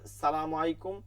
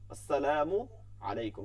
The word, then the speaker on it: আসসালামু আলাইকুম: ইচ্ছা করে সালামু স্যার স্যার এটা কোন ভাবেই ঠিক না সালাম কি মানে কর্পোরেট লাইফ থেকে আসছে সালাম আসছে কি দিয়া ইসলাম থেকে আসছে সুন্নাতে এটা আসসালামু আলাইকুম সুন্দর করে দিব এর মধ্যে স্মার্টনেস তো